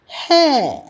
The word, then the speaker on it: है: ஹே ஹே. இங்கே பாருங்கள், ஹே என்பதை சாதாரணமாக சொல்ல வேண்டும். ஹே அப்படி என்று, ஹை என்று சொல்வதில்லை. ரெட்டை கொம்பு போட்டிருந்தா ஹை என்று படித்திருக்கின்றோம். ஆனால் சொல்லும் பொழுது ஹே என்று சொல்ல வேண்டும்.